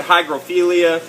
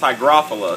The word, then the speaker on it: hygrophila: You know, I always thought you said hygrophilia, but if you actually look at the word, it's, you know, it makes sense that it's pronounced hygrophila.